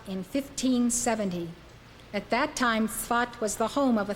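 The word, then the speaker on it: Safed: it is spelled sa Fe D but it's pronounced but he arrived in the city of thought in 1570 at that time thought was the home of a thriving spiritual community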